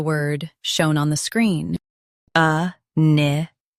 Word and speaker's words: inimical: A-ne-ma-cal. Both US and UK have the same pronunciation of this word. Stress ne. Keep ma soft and end with cal clearly. A-ne-ma-cal.